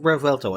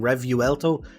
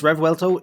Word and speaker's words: Revuelto: This is the 2023 Lamborghini Revuelto, and it is pronounced Revuelto. I did have to look it up. I originally kept on saying Revuelto, but no, it's Revuelto.